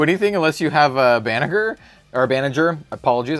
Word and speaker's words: Banagher: unless you have a Banagher. Or Banagher, apologies. I keep calling him Banagher because I watched it in Japanese. I watched Unicorn in Japanese, but I know it's pronounced Banagher.